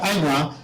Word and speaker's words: Anua: Then I told the chief, I told the king that, but we used to hear the word Anuak, so why were you not telling us earlier it is Anua?